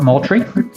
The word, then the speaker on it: Moultrie: Fort Moultrie.